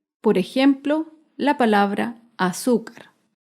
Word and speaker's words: azúcar: Por ejemplo, la palabra azúcar. Azúcar es una palabra grave y se acentúa en la penúltima sílaba.